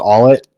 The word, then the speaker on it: Ault: Their rookie first baseman, Doug Ault, I think it's how it's pronounced, A-U-L-T.